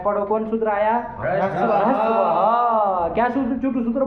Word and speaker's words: ह्रस्वः: ह्रस्वः नहीं ह्रस्वः। ह्रस्वः। थोड़ा ह का उच्चारण हल्का सा करो हाँ। तो आ जाएगा ह्रस्वः।